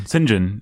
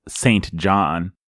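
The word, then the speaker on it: St John: this out of the way early cinge on Sinjin and the audiobook is how you pronounce the guy that you might think if you're at is pronounced Saint John has this word master spirit she called him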